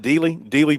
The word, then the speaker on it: Dealey: It's pronounced Dealey Plaza.